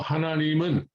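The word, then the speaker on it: 하나님은: A more advanced Korean speaker would sort of slide one into the other, say hananimun, hananimun. But if you want to say hananim un, that's fine.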